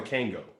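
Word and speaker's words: Kangol: ever met that that pronounces the l in kangal everybody everybody i knew it's called a kango yeah really wait don't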